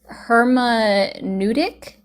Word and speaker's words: hermeneutic: so it it also um so it's it's pronounced herma nudic. Hermeneutic hermeneutic.